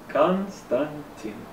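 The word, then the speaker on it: Константин: Latin letters like this in Russian constraint team is pronounced like this Konstantin in both English and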